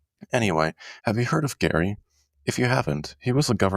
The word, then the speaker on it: Gerry: This is where we get the term gerrymandering, because people pronounce his name wrong. Justice for Gary.